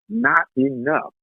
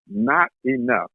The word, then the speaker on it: Knottenuff: And that guest, ladies and gentlemen, as some of you do know, is our brother, Not Enough. Not Enough. It's spelled Knottenuff.